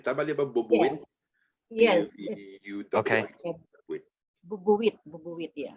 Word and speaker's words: bubuwit: Bubuwit, yeah. But it's kind of spoken quickly, so it's pronounced fast.